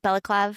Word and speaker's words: balaclava: Balaclava? Balaclava. Yeah. Well, yeah. I And always so I thought it was couldn't a just like baklava.